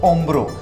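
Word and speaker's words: hombro: मैंने आप लोगों को बताया था कि एच हमेशा साइलेंट रहता है, तो ओम्ब्रो, अल ओम्ब्रो लिखना पड़ेगा बट एच साइलेंट रहेगा।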